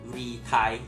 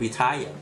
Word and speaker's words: retire: ตรง นี้ นะ ครับ ต้อง อ่าน ว่า reti นะ ครับ ต้อง มี เ่อ ด้วย นิด นึง เ่อ เบา ๆ reti นะ ครับ เพราะ ว่า มัน มี R นะ ครับ ข้าง หลัง นะ ครับ